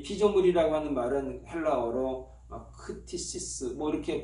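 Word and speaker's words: κτίσις: 이 피조물이라고 하는 말은 헬라어로 크티시스 이렇게 발음은 하지만 그건 중요한 건 아니겠습니다.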